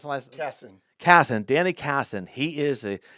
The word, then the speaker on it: Casson: We have Danny Casso. That's pronounced the last? Casson.